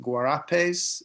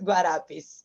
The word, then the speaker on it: Guarapes: Is it Guarapes? Is it say or? Yes, yes, perfect. Almost very well pronounced in Portuguese. Thank you. Yes, Guarapes is the where we develop our actions more directly.